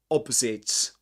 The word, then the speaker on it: opposite: There's was clasping the hand of the woman opposite. This is pronounced with this sound. Z. Opposite. Okay.